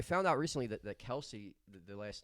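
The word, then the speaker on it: Kelce: disgusted I I found out recently that that Kelsey the last name is actually supposed to be pronounced kelse really yeah I read that on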